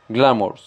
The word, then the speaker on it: glamour: correctamente la del inglés glamour tenemos que hacer acentuación o fuerza en la primera sílaba para que nos pone más natural glamour como vemos la palabra